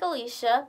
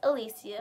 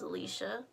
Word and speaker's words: Alicia: It is spelled exactly like Alicia, but it's pronounced Alicia. Many people do mispronounce my name as Alicia, but it's actually Alicia.